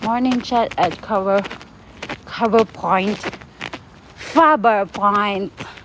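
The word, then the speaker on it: Faber Point: Fover point not cover point.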